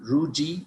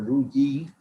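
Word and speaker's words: rugae: And the folds of the stomach is called rugi or rugi. I should write it down. Both pronunciation is correct, rugi or rugi.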